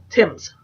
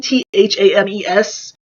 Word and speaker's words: Thames: Our taxi snaked its way along the banks of the Thames. I know how to say it, but it's always hard reading Thames and not saying Thames.